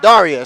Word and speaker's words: Darja: So respectfully, I asked her what her name sounded like. She said Darja.